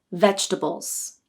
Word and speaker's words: vegetables: So for you to sound the most natural, you should pronounce it as 3 syllables, vegetables. The first syllable is veg, and this receives the primary stress. The second and third syllables, tbles, are unstressed, tbles, tbles.